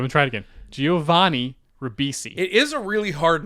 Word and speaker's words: Ribisi: Giovanni rivisi and this time instead of Giovanni Ribisi yes you said g never mind why did I say it wrong he said like Giovanni uh Breezy or something okay I'm gonna try it again Giovanni rabbisi it is a really hard name to say